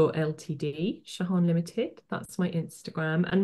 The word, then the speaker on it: Jehane: with me so my Instagram account is uh shahan limited so if I just spell that for you because it's a little bit difficult name so it's j e h a n e MH _ LTD shahan limited that's my Instagram and my name if